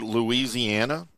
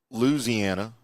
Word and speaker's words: Louisiana: people pronounce the word Louisiana is sometimes offensive. I'm just going to say it. It's not Louisiana. It's Louisiana. It's not Nolans.